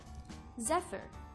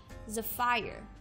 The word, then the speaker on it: Zephyr: be pronouncing the word Zephyr Zephyr often mispronounced as the fire Zephyr means a soft